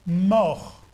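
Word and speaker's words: מור: hébreu ça veut dire ça se prononce mort non pas mort comme nous mort he mort m et ça a une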